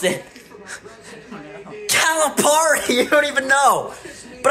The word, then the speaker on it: Calipari: already or no say calamari say the word calamari say it think that's how you pronounce then how do you pronounce it Calipari you don't even know but I call him